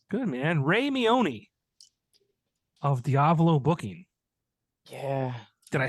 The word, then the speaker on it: Diavolo: I'm surprised why cuz a lot of people don't say it right they they uh you know they say it as uh diavalo or something like that where it just sounds like Diablo but with a V instead of a b right I